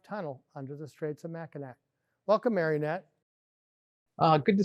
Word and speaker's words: Mackinac: the streets of mackinac i know it's spelled with the c and and if you're not from the great lakes people often pronounce it mackinac but it is mackinac for the record um so it has